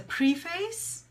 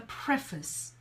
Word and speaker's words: preface: let's look at this some people would say it's a preface but really the pronunciation is the preface that preface the preface